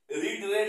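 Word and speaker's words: read: late দা lesson বিড রেড রেড বানানটা এক কিন্তু স্পেলিং মানে উচ্চারণটা আলাদা লেট লেশন বি রেড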